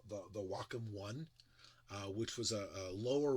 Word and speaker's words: Wacom: So for years I called it Wacom, and it's Wacom. I think it's Wacom. I've been saying it wrong. I know it's not Wacom. I know that part.